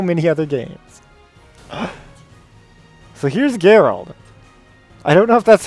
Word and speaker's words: Geralt: is Soul Calibur 6 next up is drawl throat or drawled I do not know how it's pronounced I have not played the game let's see what he says here actually it's Gerald let's go I've completely and utterly wrong but that's ok that's